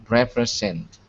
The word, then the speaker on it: represent: more time n uh represent good now here the S is a z and you can see what I wrote uh p r i z n t so it's zent perfect that's it excellent